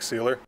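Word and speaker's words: Sieler: say seiler but i i think it's seiler zack seiler zack sealer sealer zach sealer sealer zach sealer and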